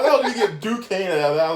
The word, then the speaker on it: Duquesne: How the hell did you get Duquesne out of that? I'm like, oh, okay, so it's not Dequanese.